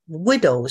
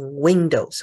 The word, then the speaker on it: widow: 他们的寡妇 widow 是他们的寡妇哈，widow。注意不要发音成 windows 哈，这个没有 n 是 widows。